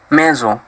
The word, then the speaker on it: maison: Jika huruf S-nya sendirian, maka dibaca seperti huruf Z. Contohnya ialah la maison, yang artinya sebuah rumah, dan une raison, yang artinya sebuah alasan.